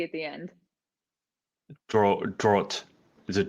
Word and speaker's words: Dragt: How do I pronounce your surname? Oh, it's a Dragt, like draw with a T at the end. Draught. Is it Draught?